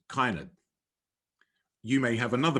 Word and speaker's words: Kinard: And those surnames are, I would say Kinard, K-I-N-A-R-D, but in Edgefield and environs, it is often pronounced Kynard.